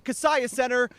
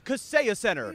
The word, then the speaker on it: Kaseya Center: Not at the Kaseya Center. That's not how you say it. It's the Kaseya Center here in downtown Miami.